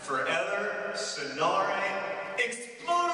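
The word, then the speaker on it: Förr eller senare exploderar jag: That is the title of the Swedish version of The Fault in Our Stars, and it is pronounced for Eller Sonare Explosion!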